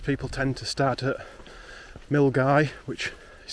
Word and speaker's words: Milngavie: It's got good transport links and come south, but most people tend to start at Milngavie, which is spelt Milngavie but pronounced Milngavie.